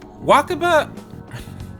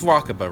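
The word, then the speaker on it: Wakaba: I'd wonder though if walkabout no wait yeah wha kappa i said her name wrong before it is walking but right yeah it's walking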